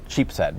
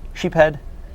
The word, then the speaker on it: Sheepshead: It's spelt Sheepshead, but some people say sheephead. Some throw the S in there. Some say sheepshed.